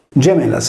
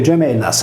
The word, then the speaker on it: Gemellas: La voce Gemellas, accusativo plurale, seleta con le regole grammaticali dell'antichità, quando la sillaba iniziale Ge si pronunciava come una velare Ge e le consonanti laterali doppie L esprimevano il suono cacominale Du, risolveva in Gemellas,